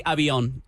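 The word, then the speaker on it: Avión: You know, the V is always a B, I've noticed.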